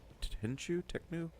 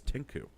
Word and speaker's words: Tenchu: I thought it was Tinku.